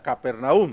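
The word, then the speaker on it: Capernaúm: certeza se cree que capernaum algunos lo pronuncian caperna Pero bueno yo lo menciono no sé si es la forma correcta capernaum Sí es correcto no capernaum Aunque no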